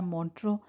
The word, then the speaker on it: Montreux: तो इस तरह आपको एक्स जो है ना, एक्स इसमें ना साइलेंट है। बहरहाल अब हम इस वक्त पहुंच गए हैं मोंट्रो।